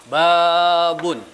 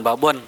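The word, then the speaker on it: بابٌ: Nah, babun. Hati-hati bacanya bukan pakai O tapi pakai U ya. Jangan babon tapi babun gitu ya.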